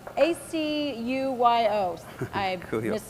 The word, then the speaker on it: acuyo: We have a question from Virginia, and I'm going to mispronounce this word. It's acuyo, A-C-U-Y-O.